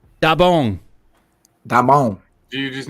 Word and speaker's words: 따봉: And so it's da bong. What's that second syllable? Da bong. B-O-N-G. Bong. Yeah, da bong.